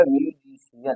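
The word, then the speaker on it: musician: Okay, इस प्रकार से इस सी को क्या पढ़ा जाएगा, यहाँ पर तालव्य स पढ़ा जाएगा। तो यहाँ पर इसका प्रोनाउंसिएशन क्या हो जाएगा, म्यूजिशियन। क्या हो जाएगा, म्यूजिशियन हो जाएगा।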